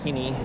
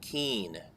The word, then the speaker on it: Keene: am again at the Kinney jumps and they're actually a little more done on this trip I learned that the correct pronunciation is Keen for this area oh